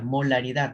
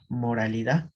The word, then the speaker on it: molaridad: Ajá, moralidad. No, moralidad viene de moral y moral no es. Molaridad, ¿no? Acá la R por la L.